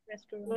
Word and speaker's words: restaurant: গতকাল বলেছিলাম রেস্টুরেন্ট, restaurant. Yes, sir. Are there রেস্টুরেন্ট, Restaurant. হ্যাঁ উচ্চারণটা এস এবং টির উপরে বেশি হবে, রেস্টুরেন্ট।